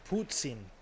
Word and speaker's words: poutine: It's pronounced Putin.